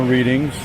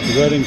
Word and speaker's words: Reading: reading railroad here more readings yes I said it wrong I know you guys pronounce it reading but just throw in